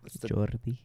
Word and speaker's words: Jordi: That's how you say it? Yeah. Jordi.